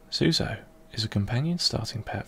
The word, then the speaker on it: Tzuso: Tzuso, pronounced Tzuso, is a companion starting pet for use in the game Caves of Qud.